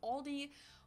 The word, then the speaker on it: Aldi: LD before but I think most people say Aldi or they also sometimes add an s that